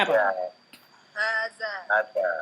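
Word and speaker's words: هذا: Hanya panjang tidak? Panjang. Panjang. Daknya panjang tidak? panjang. Panjang. Walaupun haknya nggak ada tanda panjang gitu ya. Rambu-rambu untuk panjang. Tapi kita membacanya panjang. Kenapa? Karena ada Kenapa? Karena kalau da ini panjang karena ada alif ya.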